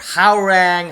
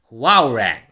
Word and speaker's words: Hwoarang: now sorry that i in my previous videos i actually talked about how rank how rank or something the actual pronunciation of this character is going to be wow rank wow rank it's a beautiful name